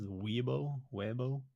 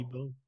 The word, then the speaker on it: Weibo: This like Chinese, I guess like social media website that they use, Weibo. Oh, Weibo. okay, yeah. I was like, what the fuck are you on about? I don't know. It's probably like Weibo or something weird like that.